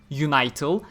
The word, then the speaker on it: Unital: And the Unital, which is again spelled with the same kana, so pronounced Unital. As in unite all.